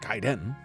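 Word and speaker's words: Gaiden: I've been playing ninja Guiden tomorrow ninja giden which if you watch the movie The Wizard you'll understand is the correct pronunciation um I don't think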